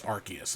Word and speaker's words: Arceus: actually like it's rcs i actually do know it's arceus like in universe it